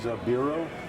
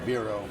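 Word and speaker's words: Bero: And another good one is Biro. Is what? B-E-R-O. B-E-R-O. Never heard I of guess it's pronounced Biro.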